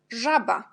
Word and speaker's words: żaba: Ensuite, on a Z avec point, on prononce je. Et là, le mot c'est żaba.